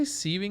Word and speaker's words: sieving: Did you say sieving? Because it's sieve, right? You pronounce it sieve, so it's sieving.